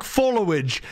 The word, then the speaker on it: followage: Do you not realize it's pronounced follow age? Like the age that you've been followed?